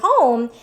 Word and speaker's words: home: But in this word, home, this is silent because this is called the magic E rule, which we're going to learn about.